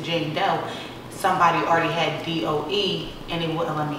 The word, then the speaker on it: Dou: just spell it d-o-u some people say duo they're like dream duo like no jane doe so then i changed